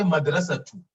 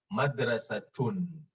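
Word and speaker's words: مدرسةٌ: a school in arabic you don't say madrasa too you say madrasa tun because it's at school so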